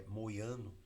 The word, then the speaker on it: Mojano: O outro estacionamento fica aqui embaixo, que é o Moiano, né? Se escreve Mojano para lendo em português, mas a pronúncia é Moiano.